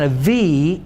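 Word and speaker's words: אב: you can know that Ab can also be pronounced as Av in Hebrew, because the B and the V are the same letter. There's just a tiny little dot there known as a dagesh, okay, that means the difference between the V sound and the B sound.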